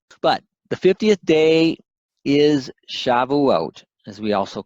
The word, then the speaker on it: Shavuot: Sabbath's plural so it's important to see it's Shavuot their feast of weeks of the firstfruits of